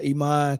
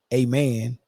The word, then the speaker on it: Imane: tell you uh the girl name is uh Iman khif right um some people is pronouncing that a man um and I think that's disrespectful but uh Iman khif is